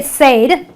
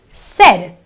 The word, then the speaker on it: said: You don't say said. You know, non-English speakers sometimes pronounce this word as said. It's not an A sound. It is a eh sound. So it is a said, an eh sound.